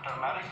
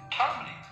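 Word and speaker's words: turmeric: को कहते हैं टर्मरिक टर्मरिक वैसे होता है आम जबान में गलत प्रोनाउन किया जाता है जिसको टर्मरिक कहते हैं। लेकिन this would be टर्मरिक टर्मरिक चटनी चटनी को इंग्लिश में सॉस कहा जाता है।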